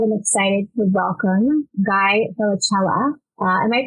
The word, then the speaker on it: Felicella: am honored thrilled and excited to welcome guy vichella am I pronouncing your last name right guy that's perfect